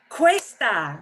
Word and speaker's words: cuesta: Cuesta, right. Cuesta. Think of a Cuesta. quest. Yeah, we do have a word quest. Cuesta doesn't mean that, but yeah, but you'll pronounce it like that word quest.